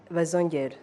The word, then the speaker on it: Bazongere: Is that the right pronunciation of your name, actually? Bazongere.